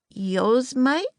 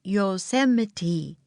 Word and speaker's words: Yosemite: "Yosemite?" said Annie. Jack laughed. "No, it's pronounced Yosemite," he said.